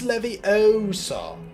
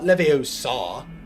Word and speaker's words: Leviosa: was the first one it's Levy Oso not Leviosa like the pronunciation of